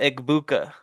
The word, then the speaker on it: Egbuka: Emeka Egbuka.